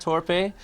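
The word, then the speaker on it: Torpey: Am I saying it right? It's Torpe. Torpe. Not okay. I'm not French. No. So, we played in France recently. It was Torpe. It was Torpe there.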